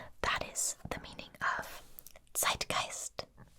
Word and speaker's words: Zeitgeist: time period okay that is the meaning of zeitgeist zeitgeist and uh watch the pronunciation here sight geist sight now this word